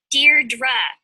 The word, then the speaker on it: Deirdre: something hi dee dee Deirdre I know it's got that tricky second syllable but I figured it